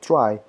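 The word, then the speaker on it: trie: phones a data structure called tree or Austin pronounced try helps to store the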